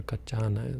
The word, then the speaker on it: Kaccana: Of course, they go to see Mahakaccana, or Kaccana, as it's said. His name is spelled differently in different places.